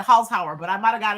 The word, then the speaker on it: Holzhauer: Holzhauer?